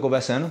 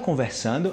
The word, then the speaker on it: conversando: Estoy "conversando" con un amigo, "tô conversano". "Conversano"? "Conversano"? No es "conversando"? Sí, es "conversando", pero como hablamos rápido, suena como "conversano".